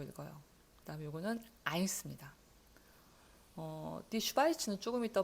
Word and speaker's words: Eins: 요거는 우리가 A라고 발음하고 싶은 너무나 A라고 발음하고 싶은 그런 모양을 가지고 있어요. 그런데 독일어에서는 I라고 읽어요. 자, 요거는 Die Schweiz라고 읽어요. 그다음에 요거는 Eins 입니다.